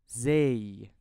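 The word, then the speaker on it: زاي: Now let's move to the last letter in this video, which is zay. Zay. I pronounce this letter as a zay sound in 0.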